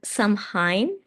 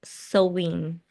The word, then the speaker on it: Samhain: of Halloween, or um, it's not said Samhain. It's not pronounced like that. I don't know the proper pronunciation, but it's something like sowing.